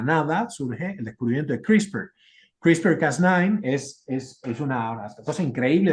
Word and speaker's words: CRISPR: Lo pueden buscar como CRISPR. Esto es una cosa muy, muy, muy importante y reciente, se pronuncia así, son unos clusters, de